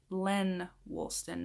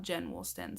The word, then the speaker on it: Lenn Woolston: Christmas tree in the background and I also mispronounced the name of the person who created the tag it is Len Woolston not Jen Woolston so I apologize for that I am terrible